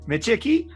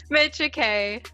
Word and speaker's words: Micciche: name one more time michiki no mitcha kay mitcha k ah cecilian uh you